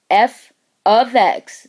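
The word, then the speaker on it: f(x): function using function notation f ofx that's how it's said equals MX plus b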